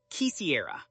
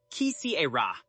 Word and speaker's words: quisiera: Instead, use quisiera. Quisiera.